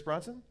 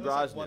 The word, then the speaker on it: Brosnan: Pierce Bronson? Brosnan? Brosnan. 1.5 Okay, so I said his name wrong.